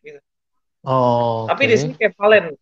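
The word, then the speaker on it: κεφαλήν: Oh, Tapi di sini kefalen. Bacanya kefalen, gonias.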